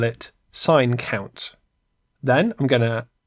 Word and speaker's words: sin: So it looks like the word sin, but pronounced sign.